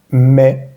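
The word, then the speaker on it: mais: La palabra M-A-I-S, que significa pero, se dice me. A-I suena E. Con la M antes va a sonar me. Y la S al final de palabras no se pronuncia en este caso.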